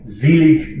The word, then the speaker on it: Selig: So, for instance, this opening phrase, Selig sind die Toten, the S sound at the beginning of a word in German is always Z. So you cross out the S, you write a Z.